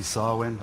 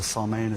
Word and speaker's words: Samhain: I'd like to say Happy Samhain, or Samhain as some people pronounce it.